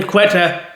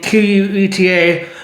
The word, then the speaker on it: Queta: Quetta, that doesn't look that good, but for some reason Quetta, or how we say his name, Queta, is looking really good for the Boston Celtics this year.